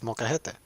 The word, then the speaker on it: molcajete: Yeah, it's molcajete. J's are pronounced as H's in Spanish.